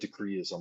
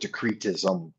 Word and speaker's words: decretism: said it wrong decree I called it decreeism I dropped the T for some reason but in this in his original document area he calls it decretism and post-ism the three